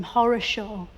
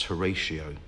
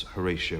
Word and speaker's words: Horatio: Lord Nelson all about why did his parents call him Horror Show I think they probably intended to pronounce Horatio but it just got mishmashed up and became horoscia you know I think that